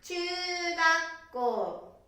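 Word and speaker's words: ちゅうがっこう: Nó được phát âm là "chūgakkō / ちゅーがっこー," phải không?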